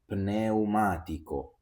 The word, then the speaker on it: pneumatico: When we have P plus N, we always have to pronounce the letter P.